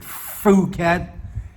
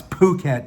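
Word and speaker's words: Phuket: because he pronounced it fukat I said no it's po bat dude that's why there's an H in the name it's an aspirated consonant and he said oh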